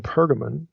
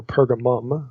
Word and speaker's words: Pergamon: a place specifically in pergamon or pergamum okay you see it pronounced either way and spelled either way in verse 13.